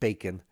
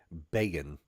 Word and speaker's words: Begin: Not bacon, Begin, spelled like begin.